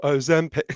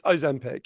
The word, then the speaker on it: Ozempic: so the correct pronunciation is Ozempic. Sorry, for people who don't know, that's the extremely annoying jingle in the adverts. It's Ozempic.